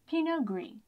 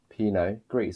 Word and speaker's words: Pinot Gris: Pinot Gris. Pinot Gris. So the T is actually silent here. It just ends in the Pinot.